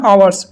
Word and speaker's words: hour: তো এখানে অ্যান আওয়ার্স, এখানে আওয়ার শব্দটা প্রথম শব্দ এইচ আছে কিন্তু অ্যান ইউজ হয়েছে, এর কারণ হচ্ছে এখানে এইচটা সাইলেন্ট থেকে ওর উচ্চারণটা প্রথমে আসছে, প্রোনাউন্সিয়েশনটা অনেস্ট, এখানে এইচটা